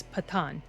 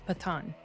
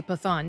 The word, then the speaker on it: Pathaan: an English you know the way we pronounce th and that's just that's not it's patan patan I was going to say pathon no it's pathan and